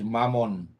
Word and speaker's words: Mammon: uh their God is Mammon uh which rhymes with lemon you know hello uh